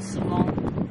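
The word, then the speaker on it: Sauvin: Well, we always debate over how to pronounce it. I think it's Nelson Sovin. Sovin, okay. But some people call it Nelson Savon.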